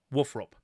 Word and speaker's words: WFRP: now but uh wup they literally spell it out fanatically and they say this is how you pronounce Warhammer fantasy roleplay the acronym woof rup so I'm I'm confident I'm I'm I've lived my life calling it woof rup and I'm happy with